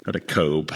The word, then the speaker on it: Kotb: and Jenna Hager from the Today with Hoda Kobe. Is that how you pronounce it? Yeah, Hoda Kotb.